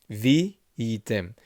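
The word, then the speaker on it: וִהְיִיתֶם: there's no e sound over here because it's the sheva is silent. So it's vi, because you have an accent mark here, item, and you have an accent mark here, vitem. Vitem kedoshim lelohechem.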